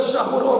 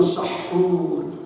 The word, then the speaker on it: sahur: Tapi lamun bulat niat Senin Kemis kajen teu sahur oge kuat.